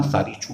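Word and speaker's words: Tsari Chu: और इनमें से जो ये तसारी छू है, एक टी हमेशा साइलेंट रहता है तो ध्यान रखना, सारी छू कह लो इसको हम मेन रिवर मानते हैं, मतलब मेन ट्रिब्यूटरी ये है।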